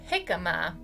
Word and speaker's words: jicama: Although this one is a trick again, it's pronounced jicama.